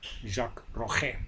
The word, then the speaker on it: Jacques Rogge: the International Olympic Committee let's see about the pronunciation Jacques Koga or in Dutch Jacques Rogge a Belgian sports administrator